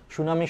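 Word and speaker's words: tsunami: একটা সামনে টি আছে বাট সেই টি টা অনুচ্চারিত অনুচ্চারিত উচ্চারণ হয় না সুনামি তাহলে সামনে একটা টি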